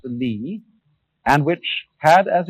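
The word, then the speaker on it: 理: you remember this word which is pronounced Lee and which had as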